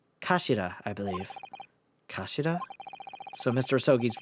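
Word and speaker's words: 頭: hilt turn by head it's written as head in Japanese but it's pronounced as Kashira I believe so Mr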